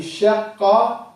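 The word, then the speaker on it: شقّ: Because you have 2 qafs. You stop on the first one. If we were to write sheen, qaf, you stop on this first one and you pronounce the second one.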